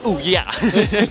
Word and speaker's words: Ouya: Ouya. What the fuck is it pronounced? Ouya. Ouya. It sounds like Ouya. Exactly.